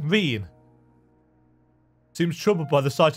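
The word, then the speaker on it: Ryne: I've actually written down how to pronounce her name. Reen.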